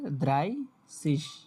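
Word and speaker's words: dreißig: ওকে এখানে আসেন এবার এই যে দ্রাই দ্রাইসিস কালার কই? এই যে এটা হচ্ছে 30 হ্যা যেটা নিয়ে সবাই উচ্চারণ করতে এটা হচ্ছে দ্রাইসিস এ উচ্চারণ হবে দ্রাইসিস আর কালকে তো নাম্বারের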